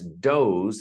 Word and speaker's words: doze: If you notice, doze is D O S E, but it sounds like D O Z or zed. E. Now, the Americans say Z. The British use zed. It's that last letter in the alphabet, the Z. Doze is spelled with an S, but has a Z or zed sound.